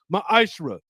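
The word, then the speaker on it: מעשר: Means 10th in the Hebrew and is pronounced ma'ashra.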